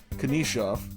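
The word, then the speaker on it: Knyzhov: 17:49 of the first, Nikolai Kanishov, is how they say it on the San Jose feed, fights Marcus Foligno.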